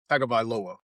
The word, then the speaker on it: Tagovailoa: I forget how to pronounce his Yep. last name. You remember? Tagovailoa.